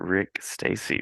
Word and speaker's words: Rick Stasi: Legendary comics creator Rick Stasi. Rick rhymes with Dick Tracy.